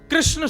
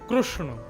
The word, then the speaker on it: कृष्ण: बहुत लोग अशुद्ध बोलते कई लोग कृष्णा बोलेंगे कई कृष्ण बोलेंगे कई कृष्ण बोलेंगे कई किशन कृष्ण पता ही नहीं क्या क्या बोलते कृष्ण शब्द शुद्ध उच्चारण नहीं करते हमारे गुजरात में चले जाओ कृष्ण कृष्ण रुक्मणी नहीं रुक्मणी कृपा नहीं कृपा हृदय नहीं हृदय गुजरात की भाषा अलग है लेकिन वास्तव में कृष्ण यह शुद्ध उच्चारण है तो महात्मा ने